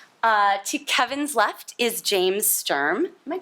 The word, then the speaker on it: Sturm: To Kevin's left is James Sturm. Am I pronouncing that correctly?